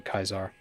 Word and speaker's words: Caesar: Um, well, I think the the Latin way of pronouncing Caesar would have been Kaisar or it would have been a hard C.